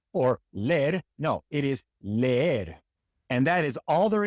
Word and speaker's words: leer: Leer, leer. You have to pronounce both of the E's. Leer. It is not leer or ler. No, it is leer.